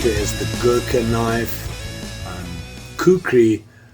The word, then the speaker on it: kukri: Kukri, I think, is the correct pronunciation.